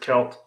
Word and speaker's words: Celt: Yeah, no promises, but Red Celt says, I pronounce it Celt. Have since I was a kid. Most of the historians I've heard pronounce it that way too.